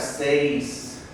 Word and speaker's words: seis: So right here we have seis. Right, we hear the I, the E and the I. Seis. When we pronounce it, they kind of blend in, but each vowel is said.